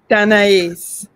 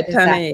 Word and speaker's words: Tanais: Tanais. Yes. I guess I should get that. My grandmother's name was Anais. It's exactly like that with the T. Yes. Yeah, Tanais.